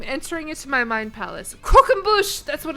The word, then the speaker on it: croquembouche: Croquembouche. There we go. I got it. I got that shit. Don't even worry about it. Not croquembouche. Croquembouche. Croquembouche. Not crocs and bush.